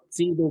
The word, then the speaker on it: pseudo: We call it pseudo gout. P silent, okay? So it's a pseudo gout.